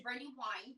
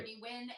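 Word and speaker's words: Brandi Wyne: Brandy, it's actually Brandy Wine, but yes, it does. Wine. It's pronounced. It's okay. It looks like it's I'm pronounced sorry. Brandy Wynn, and it is said that way 90% of the time.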